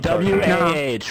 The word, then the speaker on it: wah: W-A-H, wah. That's how you pronounce it, you dumb bitch.